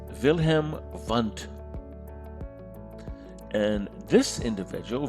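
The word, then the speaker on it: Wilhelm Wundt: with a laboratory and he is german so the w's are pronounced with a v wilhelm vant and this individual wilhelm fund he established the first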